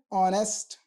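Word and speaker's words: honest: बोलते हैं आर एच यहां पर हमारा साइलेंट हो जाता है एन अर एन ऑनेस्ट ओ की साउंड आ रही है वोल साउंड है एन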